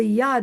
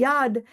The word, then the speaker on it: yod: Trine the tsquare the yud I think that's the correct pronunciation in Hebrew but it it's spelled